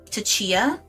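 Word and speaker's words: Tchia: I was a play tester for um, Tatia. It's spelled T C H I A, which was like a really adorable game, completely unplayable.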